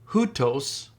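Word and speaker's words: οὗτος: that first word so you have an Omicron oilon and that's pronounced U so the word is hutos look for the next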